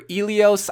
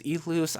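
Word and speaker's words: Ilios: So maps here, we're going to turn all them off except for Elios. I thought it was Elus. I was stupid. I kept pronouncing it like that.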